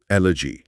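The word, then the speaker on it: elegy: শব্দটার উচ্চারণ হলো এলজি এল এজি এলজি একটা উদাহরণ শুনি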